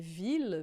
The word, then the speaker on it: ville: Se tiver 2 L's aqui, na maioria dos casos, a gente aqui vai dizer ville, porque é uma exceção, tá? Vai ser som de L mesmo.